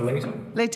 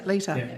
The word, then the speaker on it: Leta: Dr. Leta, have I pronounced that correct? Yeah, Leta? Dr. Leta. Leta, yeah. Thank you.